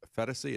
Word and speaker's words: Phetasy: As one person tweeted, I think you pronounce her last name as Phetasy. It's P-H-E-T-A-S-Y.